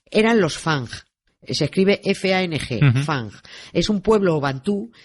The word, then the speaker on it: Fang: Se escribe F-A-N-G, Fang.